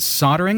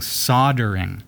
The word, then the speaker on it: soldering: here in Canada I I grew up hearing soldering with like as if the L is silent yeah how is the